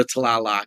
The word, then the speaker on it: Tlaloc: It's just two syllables. Tlalok. Or Tlalok, that works. So I was already wrong. I took a step, but I was wrong. So is how you like Loki. Yeah, Tlalok.